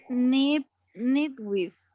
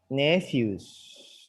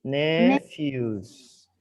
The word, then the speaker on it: nephews: the pronunciation is nipwis or nipwis. Nephews. Nephews. Okay, okay, nephews. PA sounds like F.